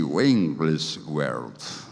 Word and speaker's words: Wigglesworth: Bueno, es un poco difícil el apellido, pero se pronuncia más o menos así, Wigglesworth.